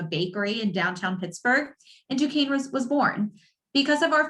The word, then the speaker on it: Duquesne: an admissions counselor from duquesne that's how you pronounce it duquesne university in pittsburgh pennsylvania we were founded early